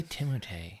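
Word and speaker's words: Timothée: i love this kid why did you say timothee that's how you pronounce it i watched interviews with them literally nobody said it like that i know i only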